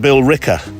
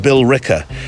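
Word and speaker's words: Billerica: though pronounced Bill rer biller rer is how it phonetically how phonetically you might say it's b i l l e r i c a pronounced Bill Ricker there's no ER in there and I found uh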